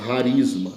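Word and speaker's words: charisma: Aqui nós temos um CH, né? Mas na verdade a pronúncia seria harisma. Então, pneumáticos e harisma são dois termos básicos, né?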